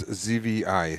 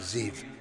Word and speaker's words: Zvi: It's ZVI, Zvi. Yes, but V. that's the way you pronounce it. I don't think the Israelis pronounce it that way. I think they pronounce it Ziv.